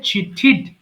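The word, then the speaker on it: cheated: আমি আবারও বলি, টু টি ডি যদি থাকে আপনার শব্দের শেষে তাহলে অবশ্যই সেটাকে ঠিড উচ্চারণ করবেন। সো এটা হবে চিঠিড, চিঠিড।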